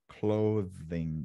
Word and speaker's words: clothing: Yeah, eu sei que esse TH, rapaz, ele é chato às vezes, né? Clothing. Mas, ó, mais uma vez, a minha dica infalível para você não errar no TH e pronunciar a palavra como ela é.